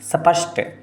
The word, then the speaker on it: स्पष्ट: अपन हिंदी वाले थोड़ा सा, हाँ, अपन हिंदी वाले थोड़ा सा स्पष्ट उच्चारण अपने, जैसे अपन स्पष्ट भी बोलते थे, ई शब्द नहीं है, स्पष्ट।